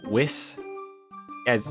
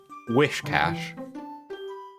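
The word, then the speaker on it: Whiscash: from old day is where i misread it as wiss as instead of with cash wish cash seeing children at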